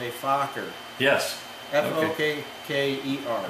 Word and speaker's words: Fokker: Get my pronunciation here. Yeah. It's called a Fokker.